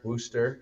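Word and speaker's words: Wooster: Uh, and then west from Worcester, Worster, I want to say it right, to Youngsttown.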